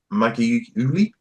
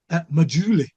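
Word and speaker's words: Maggiulli: Keep Buying by Nick Maggiuli. No. See, I pronounced that wrong as well. And it's actually Maggiuli. Maggiuli. I'm not joking.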